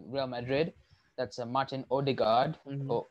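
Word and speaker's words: Ødegaard: madrid that's a martin ode guard uber guard as they pronounce in norway i suppose is uh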